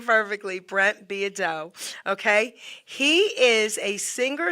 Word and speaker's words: Beaudeaux: to introduce my really cool guest Brent be Brent beo okay I wanted to say his name perfectly Brent beo okay he is a singer songwriter classic country